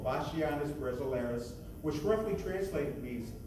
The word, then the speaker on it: Bachianas: The piece you are about to hear is entitled Vashianas Brasileia, which took me 21 times on YouTube to get the pronunciation correct in Portuguese. In English, it's pronounced Vashianas, but let's go with Portuguese. Vashianas, that's easy for me to say.